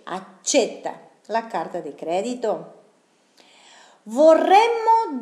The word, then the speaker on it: accetta: Acá también accetta la doble C, però igual la pronuncia es de C, accetta la carta di credito.